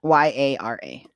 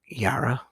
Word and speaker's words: Yara: say her name was the other one yeah yara era yura something like that y-r-e oh no wait what is it y-a-r-a yara yara that's how i was saying him oh